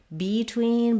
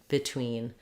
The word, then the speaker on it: between: word in these cases it doesn't say the tense e sound it says the if sound so not between but rather between and not receive but rather re receive so this is because